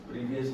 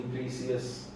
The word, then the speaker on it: precious: प्रीवियस नहीं, प्रीसियस, Precious.